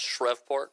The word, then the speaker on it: Shreveport: It's pronounced Shreveport.